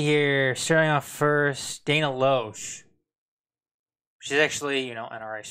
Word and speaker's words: Loesch: uh let's see here shearing off first dana loesch she's actually you know NRA spokesperson blah blah blah blah blah usually left the blaze after four years oh did you yeah lashes how they pronounced lashes that I said if it's spelled Loes but